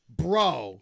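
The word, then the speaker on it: Breault: And that is that is Morgan Bro, which I finally found out how to say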